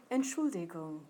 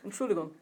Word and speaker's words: Entschuldigung: Okay, now Germans say it faster, so we're going to speed it up. Entschuldigung. Entschuldigung. Okay, so they don't, it's not an Entschuldigung, they don't say it like that. It's Entschuldigung, and they're done.